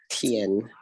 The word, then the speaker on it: 天: Terus 天 dia T, jadi bacanya TH. 天 Belum, nadanya nada 1, Pak.